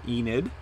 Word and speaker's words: Enid: And that's, of course, northeast of Enid. I now pronounce that correctly.